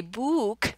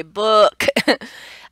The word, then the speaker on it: book: You see a double O, so you think the sound is ooh, but we don't say book, right? We say book.